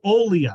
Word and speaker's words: Olia: even practiced this Maria how am I pronouncing it Olia Olia I want to say Alia that doesn't sound right so Olia Maria Olia uh we'll discuss her